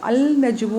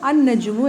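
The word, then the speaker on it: النجم: അൽ നജുമു എന്നല്ല പറയുന്നത്, അന്നജുമു എന്നാണ് പറയുന്നത്.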